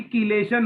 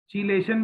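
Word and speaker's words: chelation: तीसरा पॉइंट देखो, जब कभी कीलेशन होता है ड्यू टू कीलेशन, चीलेशन भी लोग पढ़ते हैं, कीलेशन भी प्रोनाउंस करते हैं।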